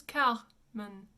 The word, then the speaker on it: Carmen: We would say Carmen or Carmen if you are from England, but the French pronunciation is Carmen. Carmen. And it's an open men.